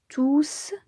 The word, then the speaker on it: tous: enfants on peut dire tous sont venus et attention ici j'ai prononcé le s maintenant voyons au féminin